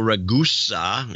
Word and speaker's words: Ragusa: Michael Ragusa in Tustin, California. Its name is pronounced like Vegas.